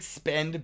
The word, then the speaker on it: SPEDN: And big shout out to Flexa because Spedden, SPEDN. It's like spend, but spelled like hodl because they're just trendy.